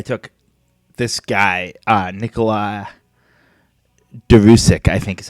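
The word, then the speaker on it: Đuriš: you pronounce his name it's a d with a line through it u r i with an accent s with the little carrot that points down uh a regular I and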